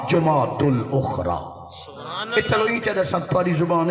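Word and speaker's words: جمادى الآخرة: الثانی اصل صحیح گرامر دے لحاظ انہا صحیح تلفظ ہے جماد الاولا جماد الاخرى اتلو ہی چاہتا سنتواری زبان ہے رجب کن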